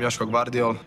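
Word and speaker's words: Joško Gvardiol: how do you say your name hi I'm Yos bardol I'm a player of RV and national team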